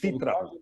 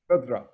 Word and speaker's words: Fitra: I don't know if I pronounced it correctly, but No, Fitra. What? Fitra. Yes. Fitra.